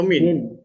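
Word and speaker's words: مِن: Yang ini bacanya itu man atau min. Nah, Min amali.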